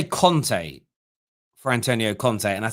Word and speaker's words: Conte: The amount of people I hear call Antonio Conte, Antonio Kante, it actually annoys me.